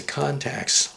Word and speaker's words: Contax: That's because these Contax, it doesn't have the K sound at the end. It's not a contact lens. It's a Contax lens.